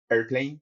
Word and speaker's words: Airplane: And this is a demonstrator tool called Airplane, which is AI.airplane, pronounced airplane for simplicity, because AI.airplane sounds worse.